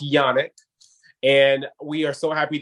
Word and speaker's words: Janak: So again, her last name is pronounced Janak.